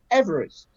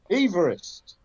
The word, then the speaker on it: Everest: Except he didn't pronounce his name Everest. So how did he pronounce his name? Everest.